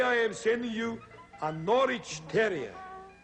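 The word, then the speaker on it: Norwich: am sending you a norch terer rhymes with porridge but it's spelled n o r w i c h usually these dogs are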